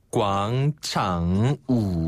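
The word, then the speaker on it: 广场舞: 광장 조라는 것은 또 뭐라고 발음하면 꽝 창우 광창우 한번 더 광창우 광창우 그렇죠 우가요 우네네네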